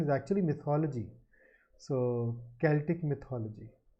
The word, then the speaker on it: Celtic: This is pronounced Celtic. For a long time I used to pronounce it Celtic because of a particular team in the US baseball, and the team is called Celtics.